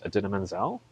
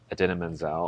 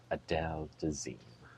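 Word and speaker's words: Idina Menzel: John Travolta was introducing Adina Menzel on stage, and he forgot how to say her name, and he said, "Introducing the wickedly talented Adele Dazeem."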